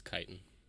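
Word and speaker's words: chitin: oh boy it's got kitness plates and you're bouncing off of them God I hope I'm pronouncing that word correctly I'm pretty sure you are yeah it's kitan yeah it is okay was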